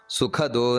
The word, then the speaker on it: ಸುಖದ: ಭೋಕ್ತ ಅನ್ನುವುದು ಮತ್ತೆ ಮಹಾಪ್ರಾಣ ನಂತರ ಸುಖದು ಅಲ್ಲಿ ಖ ಅನ್ನುವುದು ಮತ್ತೆ ಮಹಾಪ್ರಾಣ ನಂತರ ಅನಿರ್ವಿಣ್ಣ ಸದಾ ಮಹರ್ಷಿ